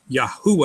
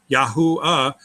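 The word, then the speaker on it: יהוה: Okay, let's start with the Yehuda and trying to extract Yahuah out there. Go ahead and write Yahuda. Yahuda. Yah, Y-A, syllable, break.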